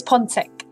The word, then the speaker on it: Ponczeck: The pronunciation is kind of warped, I guess. So it's Ponczeck.